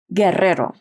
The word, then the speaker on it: Guerrero: Guerrero. There was a period of time, though, where that was not how you say it. Can I hear how you would say it? Guerrero.